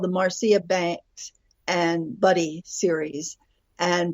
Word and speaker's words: Marcia: yes the series the series is called the Marcia Banks and Buddy series and Buddy is the Labrador and Marcia and it's spelled like Mara m a r CIA a but her mother pronounced at Marcia uh